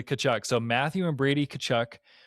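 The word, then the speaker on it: Tkachuk: But the Yeah, the announcers all say Kachchuck.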